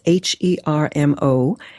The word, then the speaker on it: Hermosillo: That's Hermosillo. My impeccable Latin pronunciation.